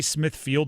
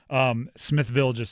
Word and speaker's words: Smithfield: I say Smithfield wrong every time. My elementary school was Smithville, and because of that, there's no way I'm saying Smithfield. Smithville it rolls off the tongue, so I know I'm saying it wrong, and I do my